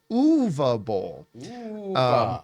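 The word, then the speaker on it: Uwe Boll: comparison by the way the proper pronunciations of his name is UA B UA Bowl sorry he was kind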